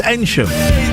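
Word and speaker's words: Eynsham: We're um Enam. Is that how you say it? And Joe, is Ensham. Is that I'm going to say that's how you say. Enchim. I'm getting the nod. It's Enum.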